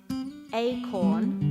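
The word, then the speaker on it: Aecorn: me as a gift some acorn but i think it's spelt a-e-c-o-r-n um it's sort of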